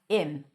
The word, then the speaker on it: him: Now, the word him is pronounced as im.